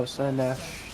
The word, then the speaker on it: Slaanesh: I don't know how to pronounce that. Oh, Slanesh.